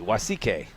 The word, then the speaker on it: Wasike: Wa. W-A and then S-E-E-K. Wasike.